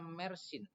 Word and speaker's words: Mersin: Betul, bacanya Mersin.